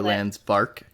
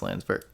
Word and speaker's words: Landsberg: sure I got Landsberg I always want to go trans bark like a oh but it's an E so it's Landsberg sometimes you'll call me